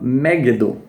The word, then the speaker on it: Megiddo: E Megido, na pronúncia original, seria algo como Megiddo.